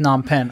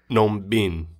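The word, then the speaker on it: Phnom Penh: always heard it just says n pen I've never heard the P said and I was curious if I now you said how is it said in Cambodian it's uh n Bean n Bean yeah it's like a thing with it like n and then Bean so that's interesting did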